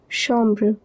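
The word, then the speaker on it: chambre: Remember ch is pronounced as sha shamra.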